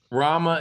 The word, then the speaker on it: Rama: Rama is spelled R A M. It's rama like kind of like ramen, but thank you.